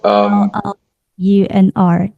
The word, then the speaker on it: LLUNR: Spelled So, L-L-U-N-R. Yes. yeah, Llunr.